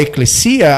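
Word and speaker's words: ἐκκλησία: A congregação, eclésia, como o original é eclesia, a pronúncia, né, de alguns.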